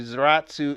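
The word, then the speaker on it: Sallaz: GEBR is an abbreviation for brothers, and Salas a last name, and apparently Salas is pronounced similar to Zaratsu in German, and that's where they got the name.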